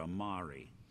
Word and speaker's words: Amari: sing it'll be Dr Amari the Mind behind the memories it rhymes with calamari sure why not I